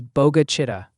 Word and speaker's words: Bogue Chitto: Ryan, just to clarify for everyone, the correct local pronunciation for Bogue Chitto is Boga Chitta or Boga Chitta.